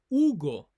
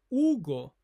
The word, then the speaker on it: Hugo: For example, my name is Ugo. So we don't pronounce the letter H in Spanish. Ugo ae.